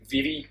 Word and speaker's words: Vivi: Vivi or Vivi, depending on how you want to pronounce him, the little black mage.